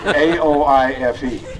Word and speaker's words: Aoife: She told my sister when asked, how do you spell that? She said, F-U. It's A-O-I-F-E.